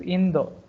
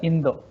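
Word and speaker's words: インド: If you say India, they don't know. You have to pronounce as Indo. So lot of pronunciations missing in Japanese language. So they used to say India as Indo.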